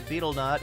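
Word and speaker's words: betel: The nut is pronounced a beetle nut.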